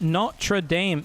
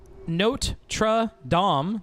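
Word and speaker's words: Notre-Dame: It is pronounced Notre Dame, not Notre Dame.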